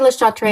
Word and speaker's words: Le Chat: Le Le Chat.